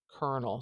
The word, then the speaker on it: colonel: there's an R sound B baked into it kernel so if this word was spelled like this that would sound much closer to